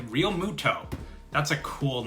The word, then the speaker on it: Realmuto: It took me a while to pronounce his name correctly. Realmuto.